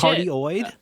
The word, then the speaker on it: cardioid: cardioid? I don't know how to yes. say that. Yes. But then there's also cardioid.